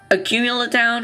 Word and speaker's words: Accumula Town: Talk or battle or trade, Remember your speech at Accumula Town?